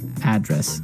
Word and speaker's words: address: you live yeah and there the stress is on the first syllable address right perfect very good okay